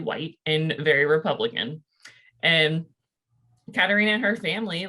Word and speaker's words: Katerina: Katerina.